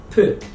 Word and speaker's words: پ: Under the shape P. P. So one dot, B, two dots above T, and three dots, P. This is the same as English letter P.